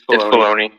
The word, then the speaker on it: Filoni: Wait, I'm not sure if I'm pronouncing it incorrectly. That it is. You're saying correctly. It's Filoni.